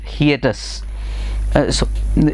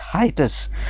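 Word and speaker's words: hiatus: N almost 7 decade हिएटस। इसको हिएटस बोलते हैं, हाइटस भी बोलते हैं, लेकिन इसका ओरिजिनल जो प्रोनाउंसिएशन है दैट इज हाइटस।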